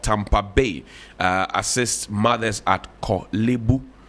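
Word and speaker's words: Korle Bu: But we've kind of It's like not Kolebu. Kolebu.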